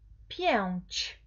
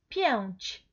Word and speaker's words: pięć: Y casa, también, con un cambio, entonces, chi, pero siempre es pięć. Pronuncia conmigo, pięć, pięć.